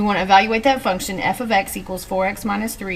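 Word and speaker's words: f(x): It's pronounced f ofx and it is the same thing as y. It just replaces the y in an equation. So instead of y, we'd put f ofx.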